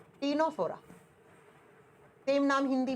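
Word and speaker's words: Ctenophora: number पर आएगा Nora लिखा सी से प्रोनाउंस किया जाएगा टी से टीनो फोरा सेम नाम हिंदी में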